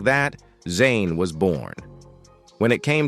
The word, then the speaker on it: Zhané: Renee had the bright idea to jazz up their names by using the French pronunciation of Jean and Renee, turning it into Zhané. They added a Z for extra flair, and just like that, Zane was born.